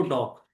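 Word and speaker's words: docx: डॉग नहीं डॉग। डी ओ सी एक्स। ठीक है? तो एक्स साइलेंट होता है। तो इसमें क्या बोलते हैं हम इसको? डॉक। सही है?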